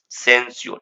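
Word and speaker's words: censure: अगला वर्ड कर रहा है बाबू सेंस्योर। अच्छा इसको श्योर पढ़ते हैं, लेकिन इसको तो हल्का सा पढ़ना है, सेंस्योर, सेंस्योर ऐसे पढ़ना है, सेंस्योर।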